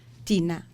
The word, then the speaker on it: Thinah: Thinah.